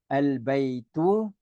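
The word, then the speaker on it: البيت: You would pronounce al-baytu, and you would drop the tanwin. Okay, you would drop the tanwin from here, and you would just use a singular dhamma here.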